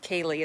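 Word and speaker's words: ceilidh: it's called there haley it's spelled like c-e-i-l-d-h some kind of scottish word but it's pronounced kaylee it's some um it's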